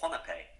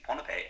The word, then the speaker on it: Pohnpei: me a long time to get the wrong pronunciation in that it's technically pipe um the the island's name is pipe and um I used to call it pipe